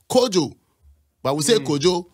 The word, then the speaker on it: Kojo: Maroons once upon a time is is what kojo that's how I pronounce it you know and the kwamis and